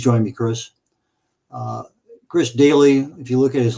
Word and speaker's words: Doelle: at it please join me Chris uh Chris Daly if you look at his last name kind of an unusual spelling but it's pronounced oun daily well there we go hey there I am